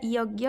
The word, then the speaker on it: यज्ञ: में क्या बोलेंगे ख ज्ञ का उच्चारण हिंदी में ज्ञ जैसा होता है जैसे यज्ञ आज्ञा प्रतिज्ञा ठीक है कुछ लोग ज्ञ या ज भी उच्चारण करते हैं लेकिन इसको याद रखिएगा यज्ञ यह शुद्ध रूप है ठीक है अनुस्वार और